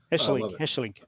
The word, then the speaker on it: Hesselink: So Jan Vennegoor of Hesselink. Hesselink. That's a slight Dutch sound.